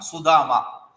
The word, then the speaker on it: Sudama: It is saying Sri Dama, Sudama.